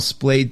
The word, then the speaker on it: splayed: In fact, it's kind of unusual to see a chart that we call splayed chart, which rhymes with sprayed, because it looks like